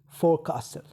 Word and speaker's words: forecastle: Okay, like forecastle, forecastle. So here the word is forecastle, but we pronounce the word in a way like forecastle.